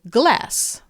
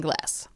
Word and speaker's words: glas: Our last word for today is the word for glass, like drinking glass. Glass is pronounced as glas in Swedish.